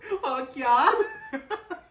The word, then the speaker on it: Okja: Okja.